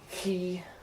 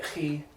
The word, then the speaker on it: chi: there's a little bit whenever you see a chi, loch, right? You can also just pronounce this with a hard CK, like as in character, right? CH, I mean, but it's more fun to put the phlegm in.